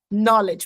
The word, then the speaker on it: knowledge: Knowledge, repeat, knowledge. Esse K aqui é um K mudo, tá? Você não pronuncia ele. Você não fala que knowledge, você fala knowledge.